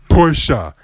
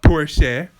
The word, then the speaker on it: Porsche: It's Porsche, not Porsche.